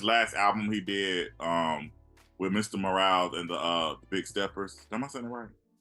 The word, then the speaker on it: Mr. Morale: like especially with this last album he did with Mr. Morale and the Big Steppers.